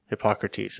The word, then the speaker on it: Hippocrates: Hippocrates. Did I pronounce it right?